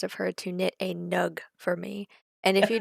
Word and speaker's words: nug: how we met um nugs will be explained. They will be the nug is spelled n u g like mug but with an n that it's and they are very cute.